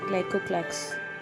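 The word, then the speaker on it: glycocalyx: ग्लाइकोक्लैक्स इसी प्रोनाउंसिएशन है.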